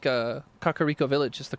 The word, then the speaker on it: Kakariko: Just like Kakariko Village is the correct way to say it.